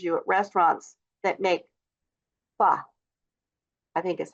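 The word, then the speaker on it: phở: In Vietnamese, the ph is pronounced like the f in fish and the o is similar to uh the tone is slightly rising and falling.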